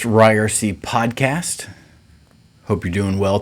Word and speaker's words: Ryerse: This is the It's Pronounced Ryerson podcast.